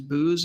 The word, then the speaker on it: Boos: is uh charles uh i think the pronunciation is booze is that the last name is that correct julia yeah so charles boos